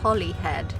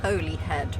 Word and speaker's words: Holyhead: Also, apologies to anyone who's Welsh because I just realised that it's pronounced Holyhead, not Holyhead, which I had been saying to the camera